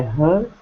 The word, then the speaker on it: heard: All right, they sound the same. Just because it's EA, there's no different sound. It's just like the ER sound in the noun, the collective noun, herd, meaning a group of cows or some other things.